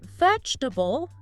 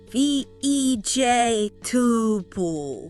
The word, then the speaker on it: vegetable: A lot of people will say vegetable. You hear that? Four syllables. Vegetable. Yeah. Here. But in you know natural flowing speech those middle sounds the unstressed ones they tend to get squished or just drop out. So it becomes v ej tub v ej tubable. Three syllables just three.